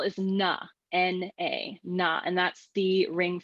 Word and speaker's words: na: birth infinity ta is life and the next syllable is na n a na and that's the ring finger and that